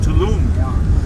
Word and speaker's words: Tulum: And Tulu is nice too. Which one? Tulu. Which one? I don't know how to pronounce it. Tulu? Oh, Tulum.